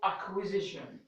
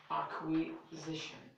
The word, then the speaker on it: acquisition: sir rule number two C is casually I didn't say always I didn't say usually I didn't say but I said casually what redundant redundant before the letter K and Q what do you mean